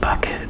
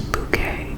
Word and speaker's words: Bucket: By the way, her her name is actually pronounced bucket, but she runs around and always tells people her name is Bouquet because, you know, she's